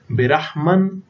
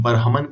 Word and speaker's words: برہمن: سادہ لوح کافروں کو برہمن، ہم برحمن فارسی میں تلفظ ہے اور اردو میں ہم برہمن کہتے ہیں.